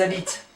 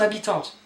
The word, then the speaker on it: habitent: J'habite, tu habites, il habite, ils habitent. Not habitante, habite.